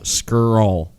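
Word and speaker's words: Scurll: I can occur all skirl skirl scroll yeah it's nice it's a curl just go with an S oh so like you're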